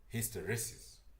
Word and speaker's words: hysteresis: Hysteresis. Anyways, yeah. So, after we've filtered our signal and we know we're getting the signal that we want, we're going to use hysteresis to determine that a clap has occurred and